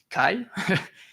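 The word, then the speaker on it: καί: Ce mot là, c'est en grec, c'est caro qui c'est une contraction du mot K ou comment on le prononce ici ? Kai et qui veut dire et moi ou moi aussi.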